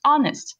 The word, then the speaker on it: honest: Your love says, like an honest gentleman, you don't pronounce the H, honest, and a courteous, and a kind, and a handsome, and I warrant a virtuous.